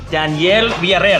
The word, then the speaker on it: Daniel Villareal: I got actor Daniel Villareal.